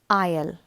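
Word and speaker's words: aisle: say to be sick the next word is isle it's spelled a-i-s-l-e it means the passageway a place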